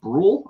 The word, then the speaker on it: Brule: I don't know if I got, is it Brule? Is that how you pronounce it? Yes. Okay, good.